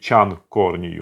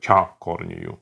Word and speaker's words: Чан к1орни ю: То есть не надо говорить чан корнию, надо говорить ча корнию.